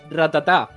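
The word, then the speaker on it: Rattata: The thing is, in Spanish, it's just ratata. Yeah, I always call it ratata.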